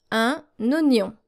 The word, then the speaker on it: oignon: know that you are supposed to pronounce OI as wa. But not in this case. This is an exception, and here is how we read it. Un oignon. Oignon. Oignon. So basically the I is silent.